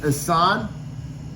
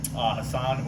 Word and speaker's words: Hassan: So I've been saying Hassan with an Hassan. A. Is it Yeah, Hassan, yeah. Okay. Hassan, if you want to be like Hassan? more phonetically Yeah. correct. It's an Arabic name. It's supposed to mean beautiful. When you start changing the phonetics, it could mean jackass.